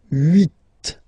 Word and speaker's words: huit: Then here, final T is pronounced. So huit, huit.